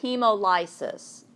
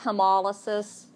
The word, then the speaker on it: hemolysis: Okay, this is how this word's pronounced. You could say hemolysis, but it's pronounced hemolysis, hemolysis, or hemolysis. And again, I found this word on page 51 at the top of the page.